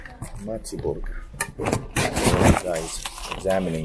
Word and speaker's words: Mätti: M burger MTI MTI I asked how you pronounce it she said Matti mty Burger you guys examining the burger all